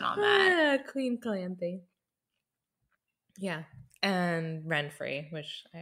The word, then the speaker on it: Calanthe: Thanks, Ray, for the correct pronunciation on that. Queen Calanthe.